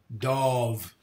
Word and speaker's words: Dov: Dove or Dove? Dove. Pronounced D-A-W-V. Like Von Charnay.